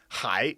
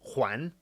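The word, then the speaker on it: 还: Yeah, so hai can mean still, and it can, if it's pronounced huan, exact same character, it means to return, like, I'm returning a book or something.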